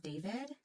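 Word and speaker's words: d4vd: And then there's also the one about the singer, David, which is spelled D4ID. I don't know. It's spelled weird.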